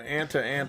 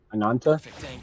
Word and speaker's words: Ananta: Well, I mean, they're going to be on the competitive table because if the Ant I'm saying the name wrong. I forgot how to say it already. Ananta.